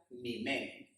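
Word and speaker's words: ממנו: Queridos amigos y queridos hermanos, la expresión que aparece allí, son más fuertes que nosotros, en hebreo se escribe y se pronuncia mimeno.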